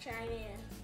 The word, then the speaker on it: Chimera: The Chimera or Chatler, it is pronounced Chimera.